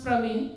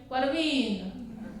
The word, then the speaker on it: प्रवीण: Difficult नाम क्यों रखा, क्योंकि आई pronounce प्रवीण and they are like परवीन, सो प्रवीण महाराष्ट्र का परवीन हो जाता है।